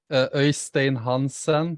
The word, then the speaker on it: Eystein Hansen: Eystein Hansen. It's a Norwegian name.